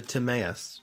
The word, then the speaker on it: Timaeus: did a work called tomius i think is how you say it yeah the timaeus the tomas and criteus